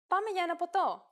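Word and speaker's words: ποτό: How about the word PTO, meaning drink, as in Poto or let's go for a drink.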